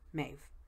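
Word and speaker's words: Medb: Another one is the goddess Maeve, or M-E-D-B, Maeve. That's how it's pronounced in Gaelic.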